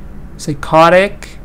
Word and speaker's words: psychotic: part uh e does it says psycho psychotic it's like psychology psychologist okay so here you see